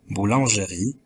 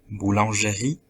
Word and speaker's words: boulangerie: dans le cas premier ils ont dit plus tôt boulanger avec l'accent dans l'avant dernière syllabe jeu au lieu de prononcer boulangerie avec l'accent dans la dernière syllabe dans le cas du